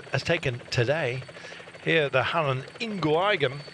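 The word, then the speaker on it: Halle-Ingooigem: The Halle Ingooigem.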